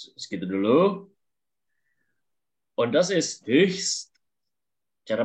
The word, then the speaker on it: höchst: Und das ist höchst. Cara bacanya itu adalah höchst ungesund. Höchst. Itu sangat tidak sehat. Betul, betul. Cara bacanya itu adalah höchst. Ininya kan O umlaut, höchst. Terus ada ST-nya.